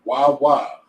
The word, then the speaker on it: waw: The word is the word in the Hebrew is waw wa. You know like the gas station waw wa.